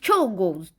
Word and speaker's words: Czolgosz: Yeah, it's pronounced Czolgosz.